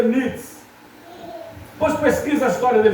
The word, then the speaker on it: Nietzsche: O pastor, o pai de Nietzsche, se escreve desse tamanho o nome dele, mas se lê Nietzsche.